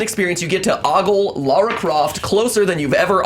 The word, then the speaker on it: Lara: I know it's sad, but It's not Laura. Lara. Lara Croft. I pronounce it Lara.